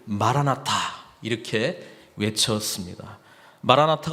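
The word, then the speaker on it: Maranatha: 오시옵소서 이 고백이 거든요 근데 발음을 어떻게 하느냐에 따라서 말한 아타 이렇게 발음하면 주님께서 오셨습니다 과거가 되고요 마 라 마 타 이렇게 발음하면 주님께서 오시옵소서 이 고백이 되는 거에요 그래서 마라나타 라고 하니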